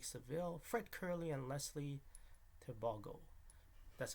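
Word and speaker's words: Tebogo: Keyshawn Thompson, Oblique Seville, Fred Curley, and Leslie Tebago.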